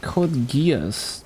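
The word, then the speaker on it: Code Geass: Oh, code gears makes sense. No, actually the the the real pronunciation is called gay ass.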